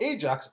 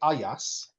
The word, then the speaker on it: Ajax: So, so Ajax or to pronounce it the correct way, AAS, right?